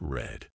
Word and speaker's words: read: is pronounced like read read in the present is pronounced like read but in the past it's red but in the past it's